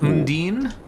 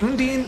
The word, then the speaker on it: Undine: Okay, we got the Mandatory Soul, Undine. Well, here's the question. Is it Undine, Undine, or Undini? I thought it was Undyne. Like the... I assumed it was the same reason why the Undertale character was